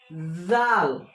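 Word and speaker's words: ذال: তাহলে দাল জাল। এই জাল উচ্চারণ হবে এই সায়ের মতো, এটাও হালকা জিহ্বা বের করে ওপর দাঁতের সঙ্গে লাগিয়ে জাল।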